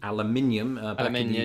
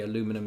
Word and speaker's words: aluminium: look at aluminum uh we say and right aluminium when you say aluminum here well well aluminum was previously in use